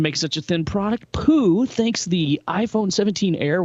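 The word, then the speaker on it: Pu: Haitong International analyst Jeff Poo, and yes, I looked up how to pronounce that. It's Poo.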